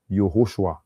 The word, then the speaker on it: Yehoshua: I think the right pronunciation is Yehoshua, right?